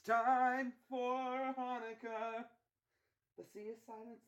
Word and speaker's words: Hanukkah: off his harmonica, 'cause it's time for Hanukkah. The sea is silence, it's not pronounced Chanukah.